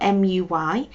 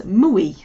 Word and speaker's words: muy: to pronounce it as mui and that's just the way we know the letter U is pronounced like a u sound whereas in Spanish it's slightly different so it's not mui